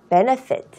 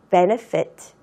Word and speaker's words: benefit: benefit. benefit. benefit. 차이점. 아까 value 발음할 때에는 윗니가 아랫입술을 다 하는데 benefit는 B니까 닿지 않는구나. 입술로만 사용을 해서 우리가 발음을 하는구나.